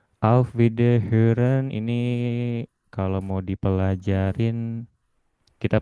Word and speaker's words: Wiederhören: Auf Wiederhören ini kalau mau dipelajarin, kita pelajari cepat dulu aja ya. Ini O umlaut ini dibacanya agak ada E-nya.